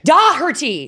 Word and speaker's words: Daugherty: doie you're all wrong oh it's Doty do it's got that sound that's really awkward is is it German uh it uh no it's Irish it's Irish but do